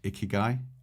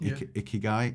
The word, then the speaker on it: ikigai: editing a video and it talks about icky guy or icky guy I think I think it's pronounced and it's a Japanese